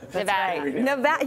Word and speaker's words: Nevada: Nevada.